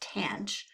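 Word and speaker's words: tanh: you will notice that hyperbolic tangent pronounced tan CH is also Cinch divided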